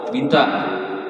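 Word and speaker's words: بنت: Kalau orang Banaho binta. Nah, binta ini dibadal binta Rasulullah. Orang Banaho itu bacanya. Orang baca binti itu karena pengaruh bahasa kita heran.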